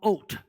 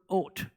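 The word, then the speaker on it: אות: In Hebrew, the signs are called ot, aleph, vav, tav. And even though it's written aleph, vav, tav, the aleph, the Hebrew letter aleph, is a silent letter.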